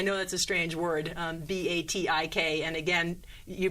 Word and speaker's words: batik: fabric so that's very exciting oh wonderful the pronunciation by the way is batik i know that's a strange word b-a-t-i-k and again you pronounce it a little a